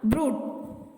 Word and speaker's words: brood: எந்தெந்த வார்த்தைனா ப்ரூட், அது கொஞ்சம் இழுத்து சொல்லணும், அது லாங் ஊ சவுண்ட்.